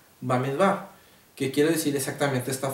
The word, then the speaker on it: Bamidbar: es importante aclarar que el libro de números en el hebreo se pronuncia báez va que quiere decir exactamente